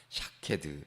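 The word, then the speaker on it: שָׁקֵד: 히브리어로 살구나무라는 단어가 이 사케드라는 단어입니다. 샤케드. 자, 이 말하는 우리가 깨어 있다라는 뜻의 쇼케드라는 발음과 유사하게 쓰입니다.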